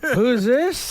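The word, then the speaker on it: whoosis: goes it's what's this no no no you don't pronounce that t what's this what's this what's that what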